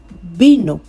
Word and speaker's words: vino: But in Spanish, the V sound does not really sound like a V. The V sound now changes to B.